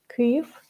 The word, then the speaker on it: Kyiv: cliff by the way this is correct pronunciation cliff like in ukrainian way so yeah i'm here